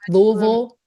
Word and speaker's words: Louisville: Back when she was in Louisville, hell yeah. Or how you say it? How you say it? Louisville.